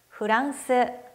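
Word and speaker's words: フランス: 아메리카 다음으로 프랑스 프랑스 프랑스 프를 풀 하고 발음하지 않고 후 라고 발음 했어요 다음으로 러시아는 흘러 발음이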